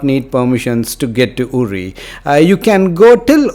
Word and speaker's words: Uri: that I visited was URI some spell it as Yuri but to the locals it's URI it's about 102 km